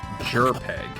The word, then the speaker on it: JRPG: It's pronounced Jerpeg.